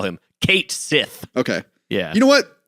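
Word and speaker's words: Cait Sith: pronunciation of the name he first gives you his name and he says it through his megaphone he says it a little bit like like K Sith okay I want it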